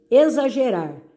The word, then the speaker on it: exagerar: X com som de Z, exagerar.